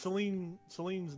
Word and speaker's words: Qelline: And It's- Celine's name is spelled with a Q, by the way. It's Qelline. Mhm.